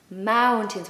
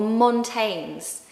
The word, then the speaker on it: mountains: We don't want to hear mountains, okay? Or mountains. It's mountains. The second part is like tins. Like a tin of soup. Think of that word tin and you'll pronounce it perfectly.